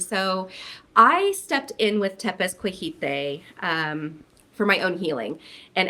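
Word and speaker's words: Tepezcohuite: Yeah, so Tepezcuijite is how you pronounce it.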